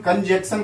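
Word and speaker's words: conjunction: कई विद्यार्थी इसका उच्चारण कंजक्शन कर देते हैं। अब ये डियर स्टूडेंट्स कंजंक्शन है, कंजंक्शन ही बोले आप।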